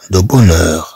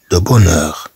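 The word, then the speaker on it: de bonne heure: بونور في الصباح الباكر اش هنا ايضا كما لو انها لا تنطق دو بونور دو بونور ensuite on a aujourd'hui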